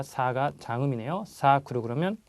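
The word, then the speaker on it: サークル: 야루 동사지 그래서 하다라는 의미가 되고요 다음은 자 발음 주십시오 사크르 자 사가 장음이요 사크르 그러면 뭐 서클 서클 활동이라 뭐 서클 할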